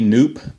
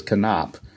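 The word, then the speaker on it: Knoop: noob by the way it's spell KN oh ho P but I looked up online and I believe the proper pronunciation is can op so I'll go ahead and call him can op although I used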